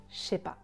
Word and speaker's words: chépa: Et sachez que parfois le s disparaît complètement et on prononce seulement je sais pas, je sais pas. Ça c'est très courant et c'est vraiment du français authentique.